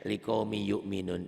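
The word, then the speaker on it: لقوم يؤمنون: Dan ini Bapak katakan tuh lihat ya, liqaumi yu'minun itu Bapak katakan bahwa tulisan dan bacaannya berbeda. Tuh. Ditulisnya liqaumin ada n-nya, dibacanya n-nya hilang, ditelan y, hilang ditelan huruf sesudahnya.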